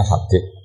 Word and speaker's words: Habib: Itu di harokatnya kitab itu ada yang nulis Subrat. Yang benar, yang benar itu bacanya Habib.